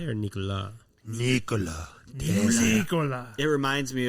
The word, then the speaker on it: Nikola: It's like Ricola with an N.